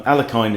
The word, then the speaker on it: Alekhine: defense alakine's defense um alekhine is the is the english pronunciation but in russian i think it's aliekin um so e4 knight